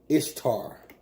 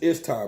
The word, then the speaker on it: Ishtar: Now, this is Ishtar, pronounced Esther or Easter.